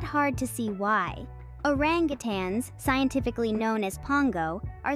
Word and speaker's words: orangutan: on the planet, the orangutan. Pronounced as orang-utan, these remarkable creatures are a testament to the wonders of evolution.